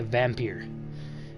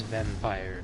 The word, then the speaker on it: Vampyr: announced and all that I was calling a vampeer and developers they they released the thing saying that it is not vampyre is vampire so you're all saying it wrong basically right take responsibility